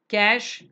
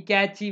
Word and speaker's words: cache: we have what is called as cache memory cash as it's pronounced in cah like how we don't write uh don't call this as catch a memory catchy memory and all that many people you know